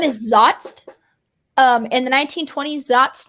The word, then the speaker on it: zotz: it's really cool the board game's name is zotzt um in the 1920s that's meant to kill